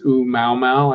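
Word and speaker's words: ʻOumuamua: It's Oumuamua, I think, O-U-M-A-U-M-A-U, Hawaiian word, because it was discovered in the survey in Hawaii that's going on to track moving objects.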